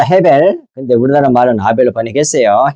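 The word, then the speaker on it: הֶבֶל: 그러면 아벨의 원래의 발음은 뭐예요? 해벨입니다. 헤벨.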